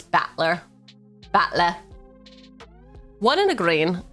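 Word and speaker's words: Battler: That's how you pronounce batler.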